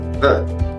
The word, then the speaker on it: the: El artículo definido es the, se pronuncia the, T-H-E, the.